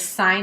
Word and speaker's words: sine: It is pronounced sine. Okay? So even when you see it written like that, please don't say sin 38. It just makes you sound like you don't know what you're talking about. Okay?